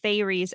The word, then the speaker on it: Faerie: Maas is a big girly on TikTok, and this is her Faerie book, specifically fayries, Fae. As opposed to fairies, Fai.